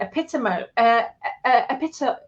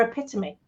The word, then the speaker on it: epitome: I remember saying epitome for epitome, and hyperbole for hyperbole, and melancholy for melancholy when I was a kid.